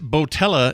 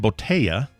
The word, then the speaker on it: Botella: Uh the restaurant Botella is actually pronounced Boteya and the double L is pronounced as E or Y.